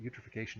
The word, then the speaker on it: eutrophication: You can remember what eutrophication is because it rhymes with nutrification, and it means an excess of primary production resulting from an overabundance of nutrients.